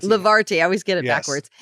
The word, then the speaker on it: Levarti: How do you pronounce the name of your? Levarti. Levarti.